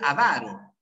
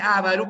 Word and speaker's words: avaro: determina nadie en su entre ávaro y avaro Así es la palabra es avaro es que hay gente que produce ávaro pero es gente que